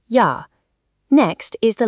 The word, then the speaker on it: ja: In German, it makes an English Y sound, so the word for yes is pronounced ja.